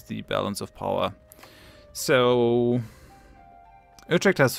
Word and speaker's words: Utrecht: So if we wait until Utrecht falls over here, I should not mix the English and the Dutch pronunciation. I should just say Utrecht.